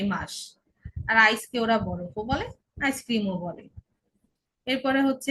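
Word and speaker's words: Brief: আই থাকলে কি হবে? দীর্ঘ ই। যেমন এক্সাম্পল হচ্ছে ব্রিফ, ব্রিফ, আই, ই, ব্রিফ।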